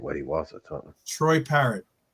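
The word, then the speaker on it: Parrott: what he was Troy parrot right yeah he one of those no parro it is just like the bird yeah just like okay it's got double it's got two T's in it that's why no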